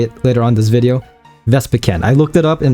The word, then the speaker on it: Vespiquen: As the title states, we'll be going over Vespiquen EX, not Vespiquen, not Vespiquen, even though I say it later on this video. Vespiquen, I looked it up and that's the official pronunciation.